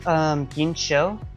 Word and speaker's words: Ginsho: I believe Ginsho, which is how you pronounce her name, because a lot of people are confused about that.